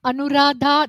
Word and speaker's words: Anuradha: I am Anuradha. You say it so much better Anuradha than. I do. Much better. Yeah, So I'm so used to it. Yeah. a little bit about Anuradha that you should know.